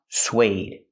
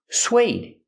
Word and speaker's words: suede: This word is pronounced suede. Suede. Use the w sound, like in what and where, sw. Plus the long A, like bake a cake.